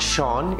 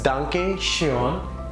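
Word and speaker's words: danke schön: the next one is Duncan Cheon it's not Sean it's Duncan sure thank you the last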